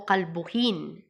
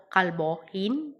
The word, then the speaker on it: kalbuhin: Kalbo, kalbuhin. No? Kasi nga, ikinukonsider pa rin natin yung tamang pagbigkas natin. Alangan naman kalbo, kalbohin? Hindi.